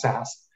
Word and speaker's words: SAS: pronounced uh you know it's spelled sas but pronounced sas um and we're actually the number one advanced